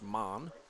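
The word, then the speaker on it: Maugh: it's spelled m a u g h an pronounced man fast ball is away and in the dirt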